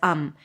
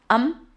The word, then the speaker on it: I'm: It's much easier to just treat it as um and even though you may think that there is an I'm there, if you just pronounce it as um um then you'll still be super clear.